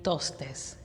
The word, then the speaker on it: Tostes: Así que Tostes, ¿así se pronuncia tu apellido?